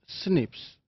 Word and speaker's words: SNP: Single nucleotide polymorphisms or SNPs commonly pronounced as snips.